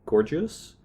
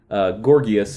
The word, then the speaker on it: Gorgias: and from Plato we read Gorgias, or you might say Gorgias. Gorgias. Whichever you prefer. We're not academics, so High church pronunciation. I can honestly say I've heard it several ways now. So, Gorgias, I'll probably say that.